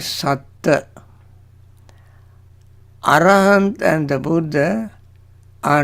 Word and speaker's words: Satta: See the difference between Satta and Sattha. Satta, S-A-T-T-A. Sattha is S-A-T-T-H-A. When we talk about the Buddha, we use the spelling, when we write it, we use S-A-T-T-H-A and pronounce as Sattha, emphasis on last T-T-H-A. Stress it.